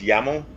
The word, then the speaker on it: YAML: have any y ml I believe it's actually pronounce yammo related equipment engine armor